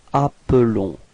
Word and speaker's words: appelons: Okay, so you can notice that the pronunciation is a bit different for the verb. It's appelons. Okay, because there is only one L there.